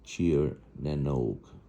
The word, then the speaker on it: Tír na nÓg: That's pronounced Tír as in cheer for a team.